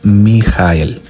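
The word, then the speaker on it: מיה: llama, unidad o unirse, es mem yud hey de derecha a izquierda y se pronuncia mi jael, así tal cual, miel.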